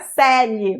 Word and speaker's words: Coeli: A pronúncia é Celi, mas a escrita é Coeli, tá?